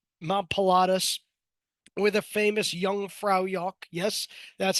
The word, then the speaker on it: Jungfraujoch: mountains, like up Mount Pilatus, with a famous Jungfraujoch. Yes, that's how you pronounce that.